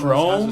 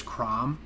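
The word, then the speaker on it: Chrume: discovered Chrome and I first read it as Crom and then I was like, uh, that's kind of stupid. But then I like saw a video of somebody pronounced it Chrome and I was like, oh, thank God.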